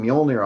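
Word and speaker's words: Mjölnir: the hammer of rooms the J is silent started exactly yeah it's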